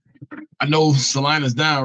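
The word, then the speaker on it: Celina: I see they knocked off Salina.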